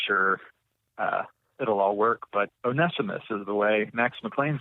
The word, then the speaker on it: Onesimus: getting it right and I'm gonna go with onesimus today as the proper pronunciation onesimus but we could probably come up with all kinds of ways to mess up that name we could call him once I miss or onesimus or